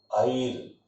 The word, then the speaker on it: heir: अब अगला जो शब्द आ रहा है HEIR, इसका उच्चारण ध्यान रखना, क्या होगा? आइर। क्या उच्चारण करेंगे? आइर।